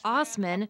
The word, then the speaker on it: Assman: Asman, usually pronounced Osman, became a regular feature on the show.